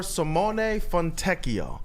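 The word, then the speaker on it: Simone Fontecchio: of tease it it was a trade for Simone fonio that's the proper way to say his name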